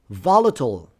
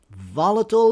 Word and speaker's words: volatile: Volatile. Volatile is a little bit special because it has two different pronunciations and they are both correct.